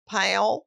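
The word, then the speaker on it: Powell: from and they were pale what is that how do you spell it uh he went to Gibbs High School pal p-o-w-e-l-l which is okay yeah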